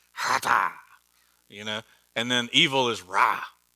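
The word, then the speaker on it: חטאת: And you pronounce, this is one of those words you have to hawk something up. You want to try it? It's hata.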